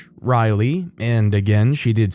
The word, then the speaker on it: Ryleigh: She suggested another name, Ryleigh (Riley, and again she did spell it out).